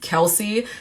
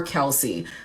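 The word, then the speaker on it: Kelce: pronounce his name and apparently it's either Kels or Kelsey but most people seem to say Kelsey so that's what I'm gonna go with today thank you miles Marianne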